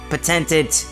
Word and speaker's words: patented: hand is not easy patented patented in British patented and patented wait the the tonic accent is on the first syllable okay patented the patented